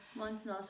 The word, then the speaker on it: Montenotte: We're staying in the Montenotte. Is that how you pronounce it, ma'am? Montenotte Hotel.